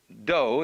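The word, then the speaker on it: 道: Do is the way the Japanese pronounce Dao.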